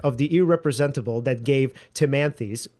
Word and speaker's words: Timanthes: In fact, it is this aesthetic of the irrepresentable that gave Timanthes. How do you pronounce his name? Timanthe or Timanthes, yeah. Timanthe. Yeah. Okay. I think that's right.